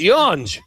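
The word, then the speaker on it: Yonge: You spell Yanj. It's Yon.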